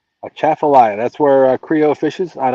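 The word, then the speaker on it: Atchafalaya: A chaffalia. That's where Creo fishes. And only reason I know how to pronounce it is because I heard him pronounce it numbers of times.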